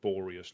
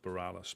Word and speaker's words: Boreas: It's just Boreas, not Borealis, but yeah, it's...